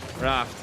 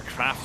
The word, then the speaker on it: Craft: AK, Raft, a nice block on, or a Craft rather. Is the proper way to pronounce it.